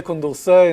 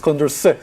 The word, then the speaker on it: Condorcet: are going to say Condorcet in the next 20 minutes. Don't say Condorcet. It's Condorcet, so you don't pronounce the T. Okay, it's a French name, so the T at the end is silent.